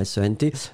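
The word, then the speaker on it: cent: pourrait être il sent, S-E-N-T, mais là, donc, c'était uniquement sent, hein. Donc le nombre, C-E-N-T, donc le T final n'est pas prononcé, sent, sent, sent.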